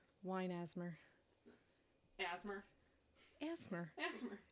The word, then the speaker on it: ASMR: it mean asmer well how do you say it you a you say all the seems like such a waste of energy to say all the letters there's only four of